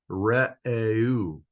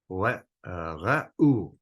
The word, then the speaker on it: Reu: But if you pronounce every separate vowel separately, then you got re'eu, and that is pretty close to the Hebrew, re'eu. Re'u, re'u, re'u.